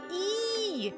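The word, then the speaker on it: え: E is represented with the romanji as I, but it is pronounced E as an eek. With one minor exception. What exception? E is always pronounced like an E in the word sleep. It is written with 2 strokes.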